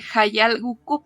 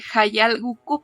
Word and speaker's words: Hayal Gücü: editora en la editorial Hayal Gukü. ¿Así se pronuncia, Ilse? Es Hayal Gukü porque es una palabra en turco. Es Hayal Gukü porque es una palabra en turco.